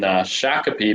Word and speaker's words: Shakopee: We're just south of the Twin Cities in Shakopee, Minnesota. So most people don't pronounce that right, but we're just know that we're south of the Twin Cities in Minnesota.